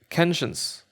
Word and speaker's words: conscience: How are you pronouncing that? Where is it? Conscience. They're saying it with an A. Conscience. Whatever. It is Conscience. It's ENCE. You know what it is.